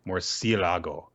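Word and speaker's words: murciélago: All in good fun, guys, but seriously, it's pronounced more like Murcielago.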